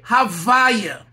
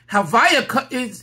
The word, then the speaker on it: Havaya: So we say Havaya. Havaya is the reading of the word Yud, Hey, Vav, Hey.